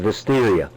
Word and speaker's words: Wisteria: In Polish, W's are pronounced as V's. So her name is Wisteria.